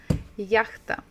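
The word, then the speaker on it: яхта: English H ah yeah so stress first the first syllable yeah it is a yacht yacht yakta okay so I hope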